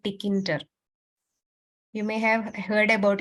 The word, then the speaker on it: Tkinter: There is one common thing called Tkinter. You may have heard about it. It's actually pronounced as Kinter.